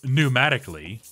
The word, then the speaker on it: pneumatically: perilously perniciously and psychedelically or pneumatically although the fact that that has the silent P that kind of reduces